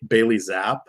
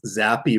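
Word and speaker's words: Zappe: know it's pronounced ba Bailey zap but it's zappy rhymes with crappy I didn't know I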